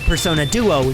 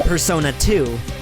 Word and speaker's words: Persona Duo: one I just did the pronunciation for Phantom Idols personas is actually Persona Duo not Persona 2 number 29 on has